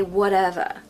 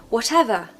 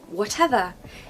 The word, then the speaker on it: whatever: was American I'd say whatever whatever but I'm not I'm British and we do pronounce the T especially when there's two T's okay definitely when there's